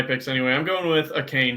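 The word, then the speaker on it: Achane: going with a Kane, who I've never actually learned the proper way to pronounce it. I've heard like 15 different ways. Achan, confirmed. Achan, is that locked and loaded the right confirmed. way to From the media guide from the Miami Dolphins.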